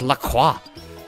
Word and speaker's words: LaCroix: I get that but it's still a French word it's spelled Lacroix so it's pronounced Lacroix God says the guy